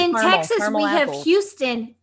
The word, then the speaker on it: Houston: Texas, it's Houston, and fuck you for saying it wrong.